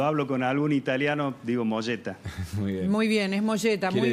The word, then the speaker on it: Mogetta: Es italiano el apellido, así que es Molleta, la pronunciación correcta, pero claro, todo el mundo me conoce como Mogueta.